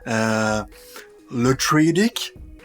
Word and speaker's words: Le Truédic: Je vais mal le prononcer. Le Truedic.